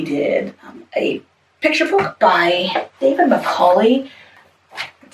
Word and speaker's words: Macaulay: In it, we did a picture book by David Macaulay. That's how you pronounce his name.